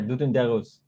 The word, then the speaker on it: Doudou Ndiaye Rose: Yeah, Doudou Ndiaye Rose.